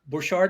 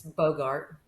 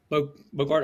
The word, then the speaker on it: Bouchard: Bouchard, am I saying it right? It's Bogart. Bogart, okay.